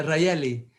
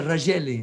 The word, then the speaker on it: Raeli: É Raeli, porque se for em espanhol seria Rageli, não é?